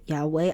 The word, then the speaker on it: Yahweh: And you may be familiar with the name Yahweh and in it, it has a W and that's coming from the letter vav. So, it's using the ancient Hebrew pronunciation for that. And so, when we do uh see God's name and if I say Yahweh, I'll be using the ancient pronunciation for God's name.